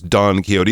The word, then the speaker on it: Don Quixote: This Don Quixote is a real person, and he says he's